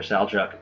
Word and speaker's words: Seljuk: outside force that with the salju Turks sometimes called sjuk Turks depends if you want to spell it with an e or an A I prefer saluk but doesn't really matter the saluk Turks uh